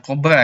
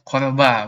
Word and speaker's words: CORBA: Yang selanjutnya ada Corba, bukan Cobra ya, Corba bacanya, yaitu Common Object Request